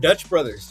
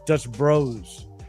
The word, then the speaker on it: Dutch Bros: Say it right. It's Dutch Bros.